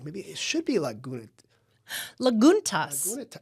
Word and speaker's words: Lagunitas: Maybe it should be “Laguntas.” **Chelsea:** It’s a Spanish word for small lakes. Lagunitas.